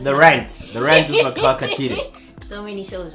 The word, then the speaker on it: Maqhawe Khathide: Hi, I'm Maqhawe Khathide. That's how you pronounce it. Don't get it wrong.